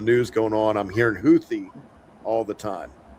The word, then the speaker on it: Houthi: The man's excuse is Americans were pronouncing it wrong as hoodie. And when the news journalists learned that it was actually pronounced Houthy, uh, they they started saying Huthi.